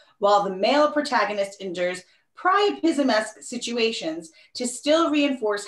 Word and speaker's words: priapism: say it correctly it's it's pronounced like like try if that helps yes it does great thank you this is already bad you're in trouble okay so your word chris is priapism did i say it